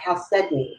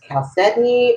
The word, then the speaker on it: chalcedony: next stone is calcium or chalcedony however you want to pronounce it tomato tomahto it doesn't matter is chalcedony or calcium and it's okay whichever way you want to say it now this particular stone